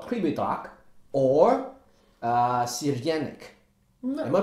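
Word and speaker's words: Crljenak: It's called Kribedrag or Sirjenik. Am I pronouncing it right? Sirjenik.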